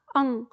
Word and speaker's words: अं: देते हैं ठीक है जबकि हम इसका उच्चारण करेंगे तो इसका उच्चारण होगा अं ठीक है अभी तक